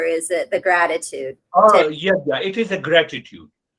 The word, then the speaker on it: Yajna: Oh, yagya. It is a gratitude. How do you say it? Yagya. Yanya. Yagya. Yeah. Yagya. Y-A. Normally it is spelled in English as Y-A-J-N-A. Yajna. Okay.